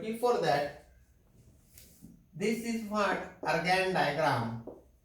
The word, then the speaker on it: Argand: I will have to go for exercise 1.3, but before that, this is what Argand diagram. I pronounce it as Argand. How you want to pronounce, that is up to you.